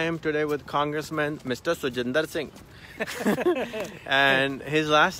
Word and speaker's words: Siljander: you doing I am today with Congressman mister so gendered Singh and his last name is too gender